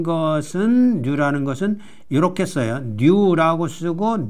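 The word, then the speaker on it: ν: 뉴라고 쓰고 뉴라고 읽어요. 그러니까 영어의 N에 해당되고 뮤는 영어의 m에 해당되고 뉴는 영어의 N에 해당된다.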